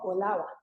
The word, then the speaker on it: Old Harbor: Limón, es Puerto Viejo, es Old Harbor, pronunciado en inglés de Limón, Olava.